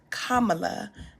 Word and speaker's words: Kamala: In that moment, Nancy is using the Vice President of the United States, whose name is Kamala, that rhymes with Mamala, is seeing her as a commodity.